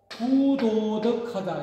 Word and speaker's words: 부도덕: 왔다 하면은 불도덕하지 않고 부도덕하다 이렇게 우리가 부도덕하다 그러죠. 불도덕하다고 하지 않지 않습니까? 그래서 이 불자가 아니 불자는 뒤에 글자가 첫 자음이 지끝으로 발음이 된다든지 뒤끝으로 발음될 때는 불로 읽지 않고 부로 읽습니다.